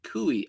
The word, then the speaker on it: Kooi: So it was kooi. Oh, you don't pronounce a U at the end. Gotcha. Kooey.